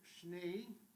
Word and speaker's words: Schnee: But although it's pronounced Schnee, and that's how I was always taught to pronounce it.